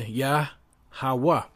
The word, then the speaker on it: Yahawah: So how is that pronounced? Strong's H3050. Yah. Yah. So if you put it together, Yahawah. Yahawah.